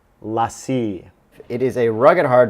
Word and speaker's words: LaCie: pronounced it wrong the whole time it's actually pronounced lassie it is a rugged hard drive 500 gigabyte